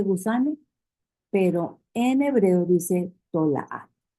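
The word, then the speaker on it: תולעת: Fíjense que la palabra gusano en hebreo se escribe tolaat. Tolaat. Pero en breve le dicen tolá.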